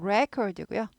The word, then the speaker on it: record: 녹화하다가 되죠 발음도 바뀌죠 엑센트 있을 때는 record고요 Record 이제 리의 엑센트가 없을 때에는 이렇게 되는 거죠 Record 명사일 때는 녹음하다 이렇게 되죠 캐논 할 수 있다는 약화돼요 강조 안 해요 they can Record 아니고 이렇게 되겠죠네 그래서